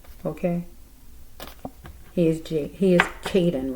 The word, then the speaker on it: Kadin: Jen please forgive me his name is not Jaden okay Caden I'm so sorry Caden